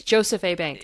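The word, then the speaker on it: Jos. A. Bank: Oh yeah, so other businesses actually according to their reviews like Jo's Jo's A Jo's A Bank. How do you say that? It's Joseph A Bank as my father says.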